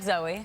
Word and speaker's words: Zooey: looks like zooey right it looks like zooey it sounds like zoey that's right yeah and